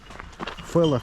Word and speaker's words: Фелос: Когда P и H - это читается как F. Ну ладно. Фелос.